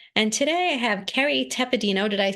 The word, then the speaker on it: Tepedino: And today I have Kerry Tepedino. Did I pronounce that correctly?